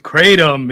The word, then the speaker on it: Kratom: Kratom? Yep. After getting off the Kratom, he was shooting loads everywhere or all over the room. Oh, yeah. You know, after I was done with Kratom, it was just free flowing everywhere.